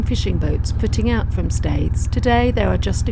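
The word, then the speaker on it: Staithes: foreign States although I believe the locals May traditionally pronounce its steers States has numerous narrow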